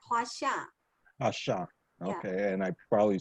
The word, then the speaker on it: Huaxia: Jenny, did I pronounce that correctly, or how far off was I? Yeah, correct. Huaxia.